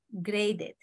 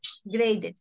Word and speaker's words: graded: Agrega una ED. Graded. Una sílaba más. ¿Ya? Graded. ¿Por qué? Porque termina, el sonido termina con D.